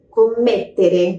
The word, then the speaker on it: commettere: Cometer, em italiano é commettere. Tá vendo que tem dois M's ali? É só dar uma forçadinha mais naquela pronúncia daquele M, ó. Commettere. Meio segundinho a mais na pronúncia.